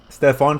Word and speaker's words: Stefon: So for the first prop guys, we're going to be taking Stephan Castle. Stefon Castle. Sorry, said it a bit wrong there.